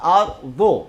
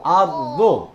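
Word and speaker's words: الأرض: তাহলে ওয়াল জুল জিলাতিল আর দো, দোয়াদের মাখরাজ হলো জিহ্বার গোড়ার কিনারা, জিহ্বার গোড়ার কিনারা উপরের মাড়ির দাঁতের গোড়ার সাথে টাচ করে, উপরের মাড়ির দাঁতের গোড়ার সাথে লাগিয়ে দোয়াত উচ্চারণ করতে হয়।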